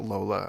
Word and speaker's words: Lola: I'm assuming I'm pronouncing it Lola, and it's not a.